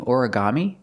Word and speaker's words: origami: Put the stress on the first syllable and the third syllable.